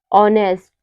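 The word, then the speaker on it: honest: आए तो हमारा एच जो होता है वह साइलेंट रहता है जैसे हो गया ऑनर इको ऑनेस्ट आवर इन सब में क्या है इन सब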